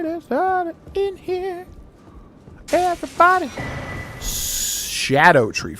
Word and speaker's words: Scadu: why is it pronounced why is it spelled scadu but it's pronounced Shadow that's so weird to